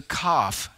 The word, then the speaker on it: Kaf: and it is the Kaf section, the letter Kaf. It's spelled here in my translation, K-A-F. A lot of times you'll see it spelled K-A-P-H, but the pronunciation would be the same either way.